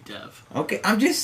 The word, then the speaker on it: Dev: Dev Patel, but I heard it pronounced Dave Patel. Really? By a Muslim. Almost 100% sure it's I think Dev. it has to be Dev.